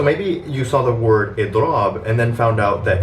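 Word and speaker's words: إضراب: Then all you're going to do is take the root of the verb and stretch out the ending of the word with a long a sound after the second letter of the root. And what you get is idrab. Again, idrab, right? You have the e sound in the beginning, then a long a sound to finish off the word.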